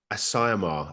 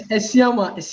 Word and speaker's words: Esiama: Yeah, it's Esiama, not Asayama.